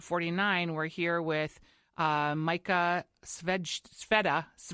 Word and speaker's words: Svedja: And today, for episode 49, we're here with Micah Sveda, right?